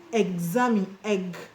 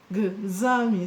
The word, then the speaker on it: examine: The X in them is pronounced ks, ks, ks, while the X in examine is pronounced gz, gz, because there is a vowel letter after the X.